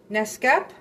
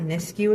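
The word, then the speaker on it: Nakusp: How do you say that? Nescap N A K U SPU. Not Niscu, it's in BC.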